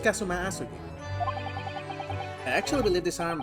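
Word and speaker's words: Kazuma Asogi: it's my best friend's name not mine it's pronounced kasum asug I actually believe this arm but in some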